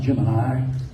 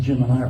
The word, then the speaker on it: Gemini: gim I said Jim it's actually pronounced Gemini correctly and NASA tried to make everybody pronounce it gimini for a long time and then gave up and started saying geminy but it really Gemini so anyway he buzzed